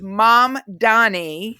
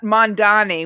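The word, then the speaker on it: Mamdani: It's the M after the A. So, it's M Dani, not Mandani, which I've been saying.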